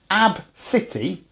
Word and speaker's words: Abcde: 60 hundredths three fifths it would be ABCDE pronounced AB City says he had pronounced